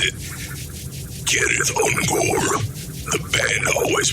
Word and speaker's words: Cirith Ungol: Sir Unore means pass of the spider while Tolken's Elvis would pronounce it Kith Unore. The band always pronounced it sith unore.